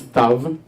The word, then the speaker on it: Stav: Can you pronounce Stav? Pretty easy, right? It's kind of like Steve, in a way. Only, hi Steve. Only it's not Steve. It's not the Israeli version of Steve.